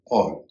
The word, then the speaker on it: all: जैसे ALL, ऑल, यहाँ ए का उच्चारण ओ हो रहा है।